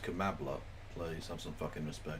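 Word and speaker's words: Kamala: now we have um Cala Harris who is doing like a Hillary Clinton I'm so it's pronounced kambla please have some [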